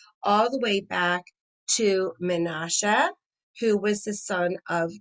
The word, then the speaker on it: Menashe: ephraim and menashe okay so menassa in english that's the way it's printed out here i'm probably going to end up saying in the hebrew pronunciation menasha is great great great